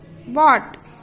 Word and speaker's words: bought: Bought, no sound.